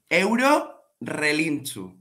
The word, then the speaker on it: Eurorelinchu: Eurorelinchu. Eurorelinchu. That's right. But I want to say it properly though. Can you say it one more time? I'm going to write it down. Yeah. Eurorelinchu.